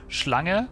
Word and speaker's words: Schlange: No, Schlange, snake, is spelled S-C-H-L-A-N-G.